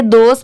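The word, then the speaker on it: those: क्या हो जाएगा helping T एच ओ एस ई इसे दोष पढ़ते हैं यह भी चेंज नहीं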